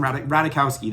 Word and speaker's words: Ratajkowski: Ratajkowski, that's how you say it, Emily Ratajkowski.